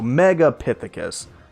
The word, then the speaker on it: Megapithecus: Megapithecus. That's how you say it.